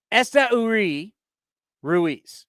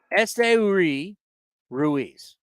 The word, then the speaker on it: Uri Ruiz: Uri Ruiz is how she told me to pronounce it.